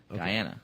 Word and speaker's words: Guyana: no no no no not Ghana Diana okay different pronunciation devices Scott if he's gonna be heading down there with Guyana watch the group that